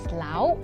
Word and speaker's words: lao: Pork lard in Teochew is pronounced as lao, and you already guessed it right.